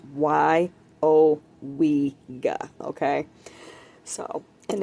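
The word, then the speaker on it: Weyauwega: It's actually pronounced Wyowega.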